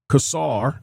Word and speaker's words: Casar: Constituents of Representative Greg Casar, I believe that's how you pronounce his name, are severely impacted by the